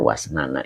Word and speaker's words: wasnan: Jadi kalau kita artikan ini cara baca wasnan ya. Wasnana itu biwawin maftuhatin dengan huruf wwunnya di fathah.